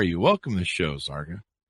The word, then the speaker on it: Zarqa: Welcome to the show, Zarqa. It's a lot, Chris. And have I got all the pronunciations of everything there right? There's a lot of... Yes, Zarqa rhymes with parka.